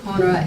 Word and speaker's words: Ponaire: It's Ponaire. Sorry, I should have started with that. It's either Ponaire or Ponaire. The fada in it makes it Ponaire.